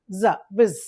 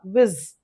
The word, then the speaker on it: vis: pronounced as v ez viz okay in spelling it is yes but is in pronunciation it is z viz viz so simply you can Remember we know think of the video.